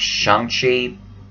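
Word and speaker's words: Shang-Chi: to address yes um it's pronounced shanxi but and i will eventually get used to saying that but i'm gonna alternate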